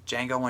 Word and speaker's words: Django: a really good actor Django Unchained the D is silent hillbilly and he an